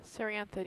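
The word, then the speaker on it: Cerianthid: I don't want to step on this Serianthid. Is that the right pronunciation? Serianthid, yeah.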